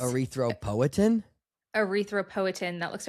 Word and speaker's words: erythropoietin: I always want to say it like when you say poietin, it's like it seems like there should be an R in like erythroprotein so bad.